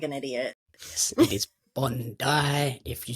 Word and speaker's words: Bondi: I actually messaged I was like is it pronounced Bond D or Bond die because I didn't want to sound like an idiot yes it is Bond die if you say Bondi Australian going to look